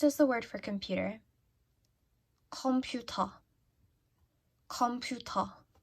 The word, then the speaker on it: 컴퓨터: 컴퓨터. 컴퓨터. The reason why I always pick this is because they're aspirated.